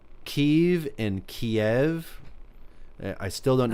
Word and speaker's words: Kyiv: Kiev. Oh, Kiev. I gotcha. Kiev. Kiev. That's the Russian pronunciation for actually Ukrainian city Kyiv. That's how it's supposed to be pronounced.